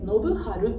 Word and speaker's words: 信親: この 2 文字で信春と読みます。